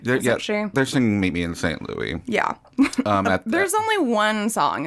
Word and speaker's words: St. Louis: Neely just in the middle of their conversation that it's not St. Louis, it's St. Louis.